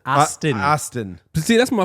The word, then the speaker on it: Aston: The Austin Martin. the Bond car. It's not Austin. It's Aston.